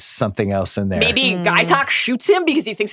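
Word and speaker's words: Gaytok: Guy Talk or Gay Talk? Was I saying that wrong? I think it's Guy Talk. I think it's Guy Talk. We were all saying it. All of us were saying it wrong.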